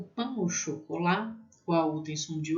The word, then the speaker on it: pain au chocolat: O pain au chocolat, qual tem som de O, né?